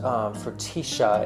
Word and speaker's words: frutilla: And then Frutilla, but it's pronounced Frutilla in Argentina.